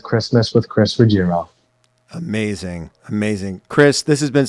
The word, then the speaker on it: Ruggiero: It's the correct way to pronounce it is Ruggiero. Ruggiero.